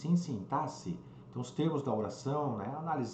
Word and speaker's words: sintaxe: a parte desse impasse que muita gente pronunciado aqui né não é sim táxi e sintaxe os termos da oração